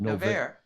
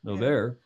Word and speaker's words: Noverre: Noverre. Noverre, 1727 to 1810, the creator of modern ballet.